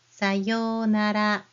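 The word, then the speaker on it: さようなら: Goodbye is sayonara. Sayonara. Again, O sound here.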